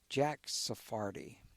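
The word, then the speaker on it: Jack Sarfatti: But there's someone you mentioned a while back, Jack Sephardi. Yeah, is that how you pronounce it?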